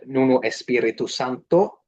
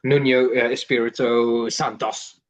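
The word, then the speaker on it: Nuno Espírito Santo: for West Ham in Nuno Espirito Santo. Beautiful pronunciation, sir. Really important with the pronunciation there, because people tend to say like Nuno Espirito Santos, like Marco Bizot, but not really.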